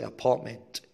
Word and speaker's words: apartment: كلمة دي بتتنطق زي apartment. الراء بتطير والت بتطير وتحط همزة مكان apartment.